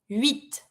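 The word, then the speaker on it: huit: that there Snoopy set then eight wheat this one the AG mute but you pronounce the final T then we have nine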